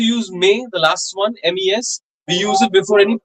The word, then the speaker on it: mes: Mes livres. The S is usually silent. Okay, but at times we do pronounce it like a Z, mes, if the next word starts with a vowel.